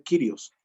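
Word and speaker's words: κύριος: mal dicho diría ser kyrios la pronunciación correcta es kyrios sí sí sí la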